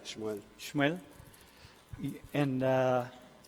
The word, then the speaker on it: Shmuel: How do you say that in Hebrew? Shmuel, right? Shmuel.